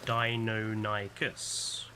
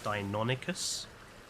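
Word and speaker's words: Deinonychus: that um you know when I was a kid the dinosaur magazines said it was pronounced they always separated it to dino nikus it's only recently in well I say recently but it's only since I've you know the the 2000s where I've been hearing it being pronounced as danicus and I don't know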